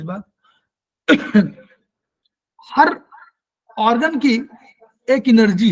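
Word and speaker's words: qi: हर organ की एक energy है, की है, इसको की हम लोग ची बोल रहे हैं ना, वास्तव में ची प्रोनाउंसिएशन है लेकिन हम लोग की बोल रहे हैं।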